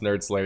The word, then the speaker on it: nerdSlayer: It's just pronounced nerdSlayer, even though you see